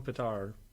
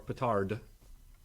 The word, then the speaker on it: petard: Hoist with your own petard, or petard. It can be pronounced either way.